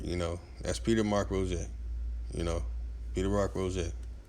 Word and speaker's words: Roget: dude right here you know that's peter mark rojay you know peter rock rosette you know in english you would pronounce that as what roget rosette but it's